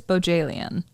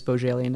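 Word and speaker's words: Bohjalian: For our listeners, here's a little guide from Chris Bojalian himself. He says bo as in ribbon, jail as in prison, and yen as in I have a yin for a good book.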